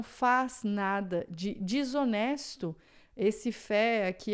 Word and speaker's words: fait: Essa palavra é interessante por aqui a gente tem o T que a gente não fala, tá? F real. Só que esse fé aqui ele pode ser em outro contexto o fato. Então le fet, aí a gente vai dizer o T, tá? Il ne ferian é o verbo fa, a gente não diz o t, mas quando é le fato, né?